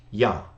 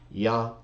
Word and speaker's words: Jah: and Greek scriptures and there's no dispute really over how to pronounce it everyone agrees that Iota alpha or yod he is yah yah J in English and that's the language